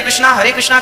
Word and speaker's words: कृष्ण: शुद्ध उच्चारण इसका क्या है? हरे राम राम राम हरे हरे, हरे कृष्ण कृष्ण कृष्ण हरे हरे, ये वेद मंत्र बोल रहा हूं मैं।